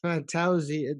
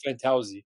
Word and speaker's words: Fantozzi: Yeah, there's a few ways to pronounce it, and you got the way we say it. So we say Fantozzi.